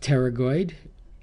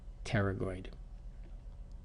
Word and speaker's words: pterygoid: kind of holds everything together here this is pronounced pterygoid um the p is an aid for pronunciation pterygoid so it looks like this when you look